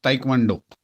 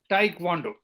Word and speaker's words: Taekwondo: go for SSB and their favorite game is Taekwondo, if I am pronouncing it correct. यस सर, इट्स ताइक्वांडो। Yeah, Taekwondo.